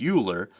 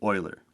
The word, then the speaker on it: Euler: angles euler can look like it should be pronounced euler but it is in fact euler now let's go ahead and give this object